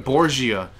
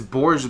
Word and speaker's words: Borgia: that's so weird borji i feel like saying borgia but it's borja the way they pronounce it uh yeah we're good